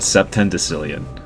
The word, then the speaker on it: septendecillion: Septendecillion. Septendecillion? Septendecillion. So it's like September decillion.